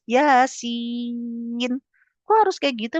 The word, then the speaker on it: Yasin: kayak Yasin misalnya kan banyak bahasa Indonesianya ya enggak boleh tulisannya Y A S ada pedangnya kan I I tuh enggak boleh dibaca ya a A a a si I iin nah itu salah ya harus Yasin kok harus kayak gitu